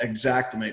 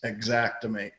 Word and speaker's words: Xactimate: software for anybody listening it's called Xactimate spelled with an x Xactimate it's pretty pricey you know